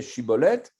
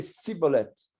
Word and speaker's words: shibboleth: l'exil hadid qui disait shibboleth et les effraye me disaient nos recettes contraire les effraye me disait jean cholette et les gilad dit il ça il avait un défaut de prononciation et disait ciboulette ces belles étincelles faisait